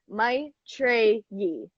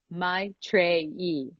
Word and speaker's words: Maitreyi: back screw it yeah I pronounce it my tray Yi my tray e yes everyone do your